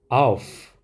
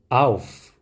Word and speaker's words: auf: 이 경우 모두 F 발음이 나게 됩니다. 함께 읽어보겠습니다. fish, fish. 그 다음 auf, auf.